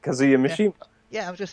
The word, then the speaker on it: Kazuya Mishima: Is to You said it right, Kazuya Mishima.